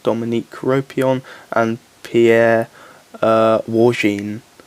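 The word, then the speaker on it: Wargnye: got an fipo Dominique copion and Pierre uh warin not warai warin that's how you pronounce it so this is a gorgeous sexy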